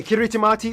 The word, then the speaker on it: Kiritimati: things by the way kiritimati is the native way of pronouncing Christmas so my cabs on